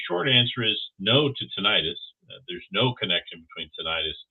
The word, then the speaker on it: tinnitus: I still say tinnitus, even though it's properly pronounced tinnitus.